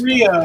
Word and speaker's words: Correia: Korea, like the country.